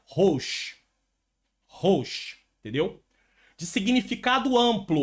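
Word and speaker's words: ראש: A palavra chefe em hebraico pronuncia Rosh.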